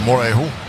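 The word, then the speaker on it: Morejón: I was told that that's how to pronounce his name. Morejon?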